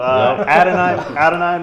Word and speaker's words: Adonai: Adonai Mitchell, right?